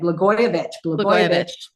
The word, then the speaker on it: Blagojevich: Blagojevich.